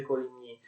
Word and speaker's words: Coligny: Un altro dei condottieri, dei leader dei calvinisti era l'ammiraglio di Coligny, che si scrive così e si legge Coligny.